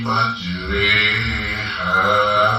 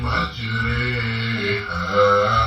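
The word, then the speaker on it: مَجْرٰىهَا: Bismillahi majriha wa mursaha. Seperti itu. Jadi huruf roh yang tadinya sukun itu menjadi ejaannya E. Kita ulangi lagi dari Bismillah ya. Bismillahi majriha wa mursaha.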